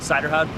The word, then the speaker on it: Suyderhoud: how do you say your last name again cider houd cider cider H how cider how okay thank